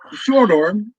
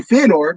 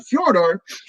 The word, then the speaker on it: Fedor: what furor you know that's the correct pronunciation of his name but furor us Americans and and North Americans would say Fedor but fjor that's where he kind